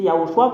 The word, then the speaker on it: Yoshua: yahoshua zadia a dit c'est Yoshua qu'on le prononce même les Hébreux savent